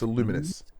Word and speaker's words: Lumines: Uh, next up we have I think it was Lumines. Luminous. It's pronounced Luminous Luminous Arise puzzle game coming later this year to PSVR2.